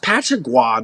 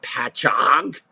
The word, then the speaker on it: Patchogue: exit sign for Patchogue, she pronounced it Patchogue because we have some very, very strange Indian names out there on Long Island. And she's looking at me like, it's pronounced Patchogue, not Patchogue.